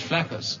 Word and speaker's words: Flaccus: Flaxus. Flaccus? 2 C's, dear. As There's an 2 accident. C's, but I still pronounce it as Flaccus.